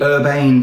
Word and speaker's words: Urbane: so around 2017 came the Urbane Pro print spelled Irvine u-r-b-a-n-e pronounced Urban the urban Pro the